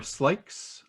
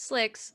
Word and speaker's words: Slicks: Slicks or Slikes? I don't know how to pronounce it. It's Slicks.